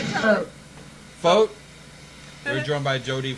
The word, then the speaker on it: Focht: Focht? We're joined by Jodi Focht of Venango.